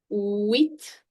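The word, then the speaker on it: huit: 8, H is going to be silent. So we are going to say it as wheat. Wheat. Remember it as wheat.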